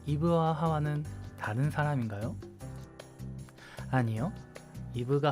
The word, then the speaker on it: 하와: 아담과 하와 어 이거 하와는 다른 사람 인가요 아니요 이브가 하고 하와가 2부 입니다 히브리어 발음으로는 하와 영어 발음으로는 이브인 것이죠 다시 이야기로 돌아가 보면